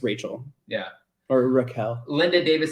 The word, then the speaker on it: Raquel: sticking up for herself I would say Raquel yeah like Raquel like Rockefeller Center yeah yeah no that's not how you say it I'm sure it's Rachel yeah or Raquel Linda